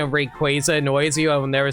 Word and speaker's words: Rayquaza: Yeah, because like like I grew up pronouncing Rayquaza as Rayquaza because I was a dummy who didn't realize his name is a pun on Quazar. So, it's obviously supposed to be Rayquaza.